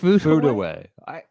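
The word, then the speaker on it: Furue: I've since been enlightened on the pronunciation of that after butchering it many times. Ayaka Foodaway.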